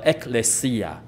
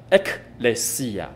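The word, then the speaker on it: ἐκκλησία: 新约希腊文的教会的发音是这个样子，叫 ekklesia，它是两个字合成的 ekklesia， ek 就是出自于，lesia 就是呼召。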